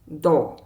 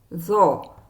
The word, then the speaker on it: ظ: Today's letter is often mistakenly pronounced at daw. Or zaw. The correct sound is a heavy version of zaw, zaw.